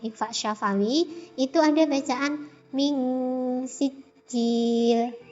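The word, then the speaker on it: من سجيل: syafawi, itu ada bacaan ming sijil. Nah, ini hukum bacaannya ikhfa hakiki. Nah, sebabnya ada nun sukun bertemu dengan huruf sin, yaitu cara bacanya dibaca samar-samar antara izhar dan idgham. Min sijil.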